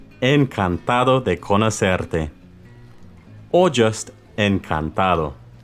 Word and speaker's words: encantado: Remember to be soft on the D.